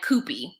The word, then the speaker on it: Koopy: So Kenny is driving to the airport to pick up his daughter, Madison, and Koopy, which rhymes with poopy, which is cute, but at some point, someone is going to call him Poopy Koopy.